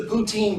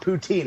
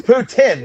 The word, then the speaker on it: poutine: It's actually not poutine. It's poutin, right? It's Putin. The E is silent cuz it's French and they're all sorts of weird.